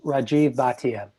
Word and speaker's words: Rajiv Bhatia: baton he is gonna I'm gonna interrupt and pronounce my name Rajeev Bhatia which many people on the call probably will